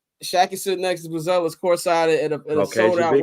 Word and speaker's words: Buzelis: Buzelis, as he pronounce it.